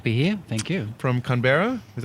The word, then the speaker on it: Canberra: welcome great to be here thank you from Canberra is how you pronounce it clothes can berra berra yes yes